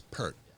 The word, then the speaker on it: Peart: Is it Peart or Pert? Pert. It's Pert. Oh, Yeah, for him. I thought you know. Yeah. I've seen people online reprimanded for Pert.